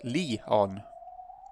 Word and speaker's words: Leon: Written as blup, but pronounced Lee-on.